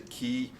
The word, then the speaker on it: chi: letter we call it Chi actually the Greeks pronounced a key but we kind of anglicized it and made it Chi and of course it's